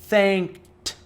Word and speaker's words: thanked: Algum desses verbos termina com D ou com T? Não. Isso significa que o E não será pronunciado. Então o work, quando colocado no passado, ele vai soar como worked, worked. O thank, quando no passado, vai soar como thanked, thanked, thanked.